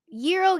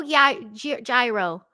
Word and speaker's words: gyro: is so good now how do you say it Euro Gyro one for Euro two for gyro who likes I I